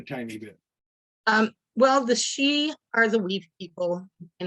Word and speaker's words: sidhe: our our studio because the Gaelic spelling is s-i-d-h-e so when people are seeing it they they think that Sid he or they have no idea so it is pronounced that she shed okay see there